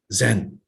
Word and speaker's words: Zen: together put together is this word chan which in japan is pronounced as zen so his own essay